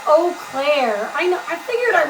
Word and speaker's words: Eau Claire: Pronounced Eau Claire.